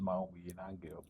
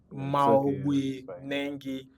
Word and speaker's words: Mao Nangi: He is no other than Comrade Mao Nangi. Oh, you're welcome, sir. Hope I pronounced the name properly. My name is Maui Nangi. Maui Nangi. Nangi, not Nangi.